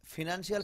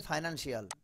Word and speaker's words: financial: যে ফিনান্সিয়াল ফাইনান্সিয়াল ঝামেলা হয় না এরকম, জি স্যার এই দেখেন Financial. ফাইনান্সিয়াল, Financial. Financial. But sound কিন্তু ওরা দুটো দিয়েছে, দিয়েছে ফ ই, এখানে ফিনান্সিয়াল আবার ফাইনান্সিয়াল, ফাইন্যানো আছে ফিনানো আছে, দুটোই আছে এখানে।